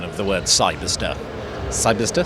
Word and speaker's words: Cyberster: pronunciation of the word Cyberster. Cyberster? Cyberster. Because the temptation is to kind of turn it into a star at the end, isn't it? But Cyberster.